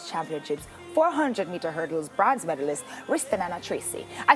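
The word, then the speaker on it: Ristananna: last year's World Championships 400-meter hurdles bronze medalist Ristanana Tracy. I said it right. Yes. You know, all long ways to hurt myself to pronounce her name right. Ristanana.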